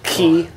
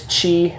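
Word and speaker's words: χ: You can just pronounce it ki, a lot less aspirated, but hi is a little bit closer to it. Yeah, in the Greek system, in the fraternities, it's chi or chai.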